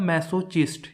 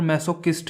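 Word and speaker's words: masochist: जिसको मिलती हो वो होता है मैसोचिस्ट या फिर मैसोकिस्ट भी हो सकता है। ये अलग अलग गूगल में अलग अलग इसकी प्रोनाउंसिएशन दी हुई है।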